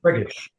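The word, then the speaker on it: Freygish: Frigish. Frigish. Okay. Frigish. Frigish. Frigish. Okay. I I I'm not I think it's f re y g i sh h. Frigish.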